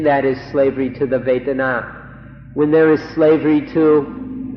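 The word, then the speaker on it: vedanā: So we'd like to request, we implore you in fact to remember this word vetana. Vetana or in Thai Waitana. It's spelled in Roman letters V E D A N A.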